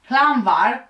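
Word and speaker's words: Llanfairpwll: this long name Village which I will pronounce in a short way plumvar in 1998 aged 13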